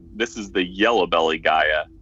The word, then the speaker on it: Gaia: GAIA. G-A-I-A. Not like the food, not Goya. Goya.